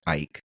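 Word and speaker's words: Eijk: Our subject today, Willem van Eyck, and that's spelled E-I-J-K, and I did look that up to be positive.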